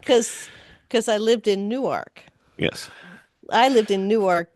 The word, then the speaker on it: Newark: I'm in Newark, New Jersey, so how good could it be?